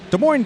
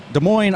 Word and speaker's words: Des Moines: from Columbia South Carolina Des Moines Derby Bratz from Des Moines Iowa the final s is silent as I were as